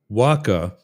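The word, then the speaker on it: WHCA: WACKA is how we pronounce that.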